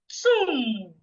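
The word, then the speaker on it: tomb: Tham the word t o m b is pronounced tum.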